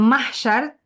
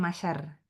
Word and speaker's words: mahsyar: ataupun surah al-Baqarah ayat 98 alam mahsyar. Ejaan mahsyar tu ada huruf H. M a h s y a r. Mahsyar bukan masyar.